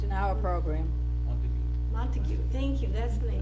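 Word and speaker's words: Montague: is he coming from Montega how do you pronounce it Mon monteo it's an hour program mon montue thank you that's what I needed where's where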